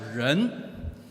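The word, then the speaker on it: 人: it's like this very similar it's pronounced as run it's pronounced Asian is rent meaning man or woman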